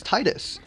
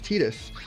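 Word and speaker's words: Tidus: watery sword he's like oh he's Titus and then um and then like five 10 years later these games come out where they actually see say his name and he's like oh my God it's tetus what am I supposed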